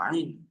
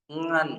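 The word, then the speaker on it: ع: Ain itu sifatnya di mana? Ada yang tahu huruf ain di mana sifatnya? Makhrajnya di mana? Tenggorokan. Di mana? Ain? Tengah tenggorokan. Tengah tenggorokan. Tenggorokan. Tapi ada sebagian dari kita yang baca ngan masuk ke hidung.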